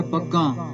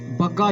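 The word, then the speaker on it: ਬਗਾਂ: बग्गां बगलियां नूं, बग्गा शब्द नहीं बग्गां, क्योंकि इत्थे बिंदी लगी हुई है।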